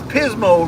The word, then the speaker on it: Pismo: from Pismo Beach California cuz Pismo rhymes with Gizmo and that's how I remember it Pismo Beach we headed home